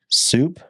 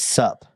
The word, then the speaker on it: SUP: So Trent advised me that I was saying Park City soup. It's sup. It's sup. So like it's like what's up.